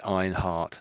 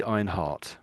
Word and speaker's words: Einhard: Einhardt looks it I think probably the the the Americans would say Einhard they'd make the D sound I think at the back there but probably the Brits if a Brit British person would say I think it'd be Einhart so almost like heart at the end almost a T almost so there's you